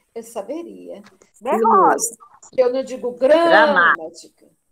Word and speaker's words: gramática: Gramática. A sílaba tônica não é o ma?